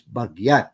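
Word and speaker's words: bagiat: he told me that the pronunciation of ilocano is baguette with as if it were a y sound so it spelled the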